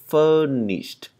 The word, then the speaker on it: furnished: Ở đây có chữ ed nhưng mà không phải là chữ tịt như phía trên, mà chỉ là âm d thôi, âm d bật hơi.